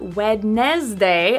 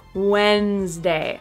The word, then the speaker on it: Wednesday: And 13, another day of the week, Wednesday. Not Wednesday, as it's spelled, but Wednesday.